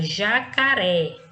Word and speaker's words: jacaré: Então, temos aí ó, a primeira palavra, jacaré. Jacaré, a sílaba pronunciada com mais intensidade é a última, tá? Então, sendo a última, é uma palavra oxítona, ou seja, uma sílaba tônica na classificação oxítona, ok?